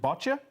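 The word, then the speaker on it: boccia: development particularly and forgive me if I don't pronounce this right the sport of is it bota yeah that's correct so first of all what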